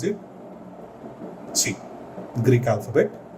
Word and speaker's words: Chi: This is how you pronounce it, Chi, Greek alphabet, Chi, LT Fy by gamma M naught.